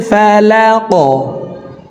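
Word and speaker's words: الفلق: তো এখানে প্রথম দুইটির ভিতরে একটি হরফ কফ আসছে। এ কারণে এফ হরফকে উপরের দিকে ধাবিত করে ধাক্কা দিয়ে উচ্চারণ করব। আউজুবি রববিল ফালাক।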